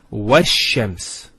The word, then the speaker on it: الشَّمْسِ: It's not pronounced, because there's something before it. Similarly, this lam is not pronounced either, because as we said, this is from the sun letters, and there's a shadda there. So it's wash-shams.